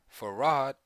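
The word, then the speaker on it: Fard: on the west coast F pronounced farod preached in the emotional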